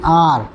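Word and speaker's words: hour: वी हैड to wait N आर क्योंकि H silent है इसमें।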